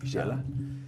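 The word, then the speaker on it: Xala: is it isala like I know that sometimes the x is pronounced yeah exactly Shala yeah so so Chala I call it Chala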